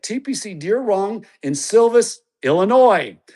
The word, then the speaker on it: Illinois: Deere Run in Silvis, Illinois. My home state with a silent S and the Backyard Golf Association down here in Florida where there's no S's in our state name.